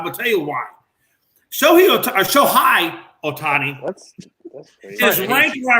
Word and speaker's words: Shohei: Name wrong. Shohei. No. Shohei. It's Shohei.